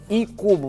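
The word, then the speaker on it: Iikubo: de shiran gorokan e cubo não li porque na língua japonesa não tem o aí não faz sentido então é i cubo você poderá encontrar certamente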